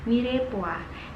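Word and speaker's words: mirepoix: kemudian banyak kedua adalah mirip Wah di dalam tulisannya adalah dirimu it's tapi kita biasa membacanya dengan mirip Wah Dewa ini adalah berupa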